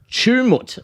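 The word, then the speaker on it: Tumut: tummut tummut and and everyone's like it's not pronounced too much and I was like how's it pronounced and they're like chumut and chum and I was like chumut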